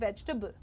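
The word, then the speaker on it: vegetable: वेजिटेबल the pronunciation is वेजिटेबल। Right? वेजिटेबल। वेजिटेबल just three syllables वेज टबल।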